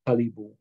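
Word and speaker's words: qalipu: at the word Caribou in the original migma language the pronunciation was kalibu and kalibu when you say kalibu in the Miguel language that means to shovel and that's what these animals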